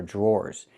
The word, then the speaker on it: drawer: The dr makes a J sound like a juice and jump. Plus the R. J. Then we have the or sound like more and door. Draw. Drawer. These are drawers.